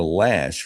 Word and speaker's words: Loesch: Dana Lash, her last name is spelled Loesch, and she is a wonderful nationally syndicated radio talk show host.